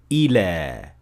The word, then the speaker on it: إلى: But if it is used separately, it will end normally with an alif maqsura like so, ila, with a natural mad at the end of the word.